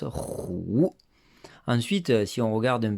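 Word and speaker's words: 虎: sachez qu'en tout cas le tigre se dit roux roues et ça fait vraiment penser aux rugissements du tigre c'est pour cette raison qu'il le prononce roues ensuite si on regarde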